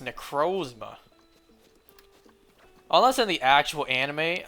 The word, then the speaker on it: Necrozma: But yeah, I heard people pronounce it Necrozma, so I thought maybe it's correct because the word the name is based off of is pronounced like that. So I started pronouncing it Necrozma despite thinking Necrozma sounds better. But finally, it's confirmed it's pronounced Necrozma. So I can finally go back to the way I always pronounced it. The correct way.